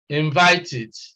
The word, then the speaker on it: invited: at invited invited okay invited the sound here is eid and the reason is